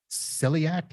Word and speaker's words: celiac: that there's a disease attached to this called celiac. Is that the correct pronunciation?